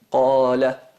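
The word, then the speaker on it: قال: Qala, es como se dice qa.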